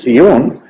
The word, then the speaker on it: Sion: Sion monosílabo se equivocan Sion ni en griego ni en hebreo es monosílabo tiene dos sílabas muy distintas porque tiene una consonante medio así de sencillo de modo que si es Sion hay que acentuar lo en la o como estaba antes Y